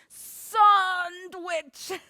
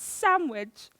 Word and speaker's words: sandwich: hate about sandwiches when people pronounce the d in sandwich sandwich it's sandwich there isn't one sorry a toilet you